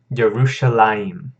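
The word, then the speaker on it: ירושלים: way you see it both will be pronounced DeRusha lime alright okay moving up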